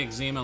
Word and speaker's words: eczema: what do you say examine like that because that's how you say it that's how all the doctors I talk to about it say it run run skinny run